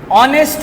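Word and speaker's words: honest: अब यहां देखें ऑनेस्ट मैन। ठीक है? अब यहां पर एच हमारे पास साइलेंट है।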